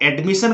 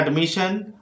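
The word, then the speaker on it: admission: जैसे इसको एडमिशन कुछ लोग गलती से बोलते हैं, इसको बोलना है एडमिशन।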